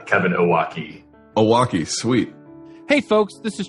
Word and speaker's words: Owocki: And also Kevin Owocki. Close. That's the traditional Polish pronunciation. Kevin Owocki. Owocki.